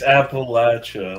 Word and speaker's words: Appalachia: It's Appalachia. Like, I'm going to throw a Appalachia. Like, that's how you say it.